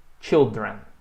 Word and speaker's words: children: E preste atenção também na pronúncia, né, que no singular tem o som de I, child. E no plural tem o som de chi, children.